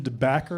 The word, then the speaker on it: DeBacker: This is Gretchen DeBacker. Am I pronouncing that? That's, yes. DeBacker.